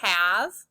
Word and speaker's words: have: This is the word have. We need to remember the E is silent and at the end, so we memorize that by heart.